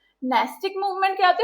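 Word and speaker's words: nastic: नास्टिक मतलब ये पूजा पाठ नहीं करते, प्रोनाउंसिएशन इज नास्टिक मूवमेंट.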